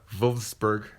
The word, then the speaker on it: Wolfsburg: It's pronounced with a V sound though. Wolfsburg. Wolfsburg, I think.